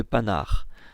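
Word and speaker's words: Panhard: plus étrange c'est qu'apparemment le nom de panard se prononce avec un n silencieux h aspiré et indé qui tombe complètement attendez quoi même lorsque les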